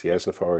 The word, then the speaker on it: Yasnafar: Is it Yasnafar? Is that how you pronounce it? Can you hear me, Chris? Yes. And yes, it is. Yasnafar is correct.